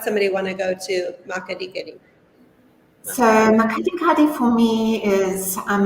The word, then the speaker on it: Makgadikgadi: Okay, now this one I have trouble pronouncing. MAKGADIKGADI? Very good. MAKGADIKGADI salt pans, which is part of the Greater Kalahari.